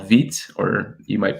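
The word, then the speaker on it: Vite: i experimented with recently was this tool called veet or you might pronounce it vita but it's vt and it uses a tool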